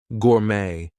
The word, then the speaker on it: gourmet: So, things like ballet, gourmet, we are not going to pronounce the T there. She's a ballet dancer.